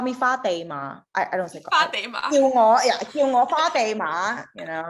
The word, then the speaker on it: Fatima: offer i didn't even say my name it's fatima if i was in america i say fatima